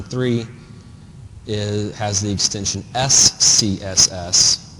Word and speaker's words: SCSS: the extension s CSS which you can see why this is really hard to say and it's spelled out when you refer to it so you actually say oh it's an scss file the original syntax came